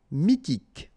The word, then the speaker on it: mythique: Remember, Q-U at the end, K. Okay, and then Y is pronounced like I. Mi, H is not pronounced. T, K. Mythique.